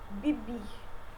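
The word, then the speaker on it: vivir: Bibir, que é o verbo viver, se pronuncia bibir.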